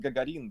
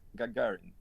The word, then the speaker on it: Gagarin: Not Gagarin, but Gagarin.